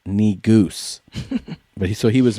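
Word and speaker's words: negus: spelling bee is saying negas according to this video it's correctly pronounced knee goose but so he was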